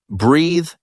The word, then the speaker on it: breathe: Remember, breathe has an E at the end and is pronounced with a th sound.